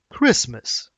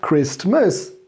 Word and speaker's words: Christmas: if it's christianity then christmas is the most important festivities what you don't pronounce the t it's not christmas it's